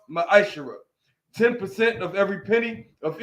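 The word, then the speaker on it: מעשר: It means 10th in Hebrew and is pronounced ma'ashera.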